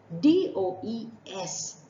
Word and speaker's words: does: park did you notice my dear friends at d-o-e-s has two sounds one has a earth sound and rhymes with Buzz does and the other has all